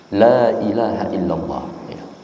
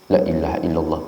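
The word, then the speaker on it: لا إله إلا الله: secara pengucapannya tetap salah maka lamnya harus panjang maka ini tidak benar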